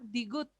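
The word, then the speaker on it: 디귿: Ahora vamos con la digut. Digut, digut. Digut hace referencia a una D, pero tengan cuidado. Una D al principio, al medio una D, pero cuando está al final suena como una T.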